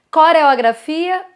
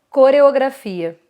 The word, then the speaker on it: coreografia: tá então seria coração um outro exemplo coreografia não tem isso coreografia coreografia como como seria o ideal para a neutralização você fala com a jogar mais fechada então as vogais mais